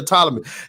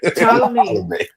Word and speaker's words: Ptolemy: Is it Ptolemy or Ptolemy? God damn it, I've been saying it wrong. Ptolemy.